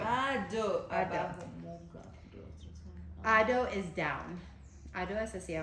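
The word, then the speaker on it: अधो: So we have ado, and the DH in Sanskrit is guttural, so you pronounce it in right here.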